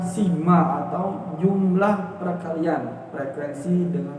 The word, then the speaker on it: sigma: angkat jatuh seperti itu itu dibacanya simak jadi X bab =